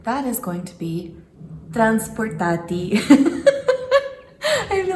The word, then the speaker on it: transportatie: the day, and that is going to be transportatie. I feel like I have to say it like Google says it. Transportatie. Transportatie.